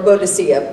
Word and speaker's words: Boadicea: And Boudica, I don't know if anyone knows it, from history, or Boadicea, people pronounce it either way.